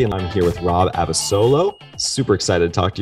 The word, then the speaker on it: Abasolo: You pronounced my name correctly. I get a lot of people that say Abasolo.